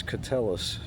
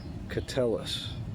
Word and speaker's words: Keteles: It's not Keteles, it's Keteles. Keteles.